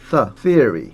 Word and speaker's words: theory: th 발음. 번데기 발음. theory. 쌍둥이 시간 비슷한데 약간 달라요.